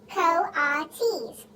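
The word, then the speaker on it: coatis: kalates mrs brisbane said reading from the letter pronounced co-autis the kohati's looked weird miss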